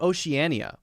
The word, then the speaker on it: Oceania: Now, how about Oceania? How many letters does it have? O-C-E-A-N-I-A. Now, let's count how many syllables it has. 5 syllables.